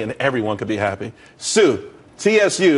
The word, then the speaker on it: Tsu: everyone could be happy Sue CSU it's pronounced Sue though that's a that's